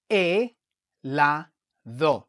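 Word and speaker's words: helado: from English is that the H in Spanish is always silent. All right? We never pronounce the H. It's always silent. So what you do is you look at the vowel that follows the H.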